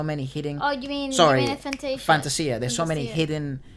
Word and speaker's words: Fantasia: Fantasia, and it is pronounced Fantasia. Yeah. And not Fantasia, like I thought it was supposed to be.